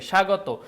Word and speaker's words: স্বাগত: আসলে হবে তার মানে এই যে স্বাগত এখানে কিন্তু তোমার ব ফলার উচ্চারণটা আসলে হচ্ছে না এরপর আমরা দেখতে পাচ্ছি